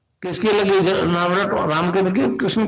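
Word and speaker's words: क्लीं: की मात्रा और बिंदी, उसका उच्चारण होगा क्लिंग गा। गा की ध्वनि निकलेगी पीछे।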